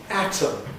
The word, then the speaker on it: atom: Many Americans would say these two words identically. So that's an atom and this is Adam. Both of them are Adam.